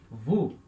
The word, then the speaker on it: vous: Nós também temos, aí, depois da primeira pessoa, segunda pessoa do plural, que é o vous, pronuncia, né? O, U, som de U, esse S é mudo. Então, vous, tá?